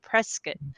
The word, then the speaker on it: Prescott: So I believe that you live in the Phoenix area, and we've already established that your midterm furnished rental is in Prescott.